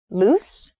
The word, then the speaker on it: loose: loose loose and loose you can hear maybe the the difference in vowel sound loose and lose uh so loose is